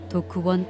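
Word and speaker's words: Dokk1: 도크원 도서관의 발음입니다.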